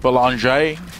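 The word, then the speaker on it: Bélanger: Belanger. So ER in French is pronounced A, and it's at the end of all of their vowels.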